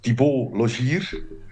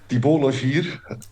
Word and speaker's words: Thibault Logier: So, my name is Thibault Logier. It's difficult It's for a you hard guys. name for us, for me to pronounce. Thibault Logier.